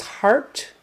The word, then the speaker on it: heart: is the same as the middle sound in hard it's an a r vocalic r sound even though it's spelled with an E A it's just forget the E it's a heart heart